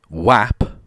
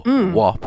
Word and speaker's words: WAP: uh popular music song whap or what if you're american and therefore pronounce things wrong um which stands for